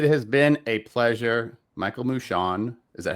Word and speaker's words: Moushon: Michael Mushon, is that how you say it?